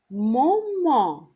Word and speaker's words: moment: مومون اللي هي زي الانجليش مومنت يعني لحظة، ده انجليش مالناش دعوة بالانجليش، خلينا فرنسي. مومون التي قلت زي ما بقول يعني التي ما بيتنطقش، الاو بتتنطق يبقى مومون يعني لحظة.